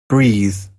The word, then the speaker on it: breath: Y la otra es breath, como más sencillo.